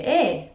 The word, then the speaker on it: eh: Another way of saying "isn't it" in Dundee is the word "eh." "Eh," which can also be pronounced "a," is so much a part of Dundonian speech that it almost deserves